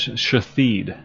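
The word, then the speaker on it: Shithead: One of them is Shathid. You're a bigger man than I am, Zeus. I would have pulled the plug ages ago. But Shathid is the name. It's spelled S-H-I-T-H-E-A-D. Shathid.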